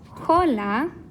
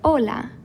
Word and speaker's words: hola: pronounce this word though do we know it as holla or ola if you said the second one you're right which means that the aceh in this word is not the normal h sound that we have in english but instead silent all right so anytime you see